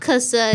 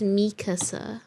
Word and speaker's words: Mikasa: It's not Makasa, it's Mikasa.